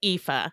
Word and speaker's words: Aoife: Yeah, it's pronounced Aoife.